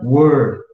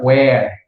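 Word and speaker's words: were: gospel word 97 lembre esse cara que se pronuncia war eu e não se pronuncia where igual alguns confundem com o air do é do ombro até um h isso aqui fica where é mas esse aqui se pronuncia war como se fosse com o zé amor é que mas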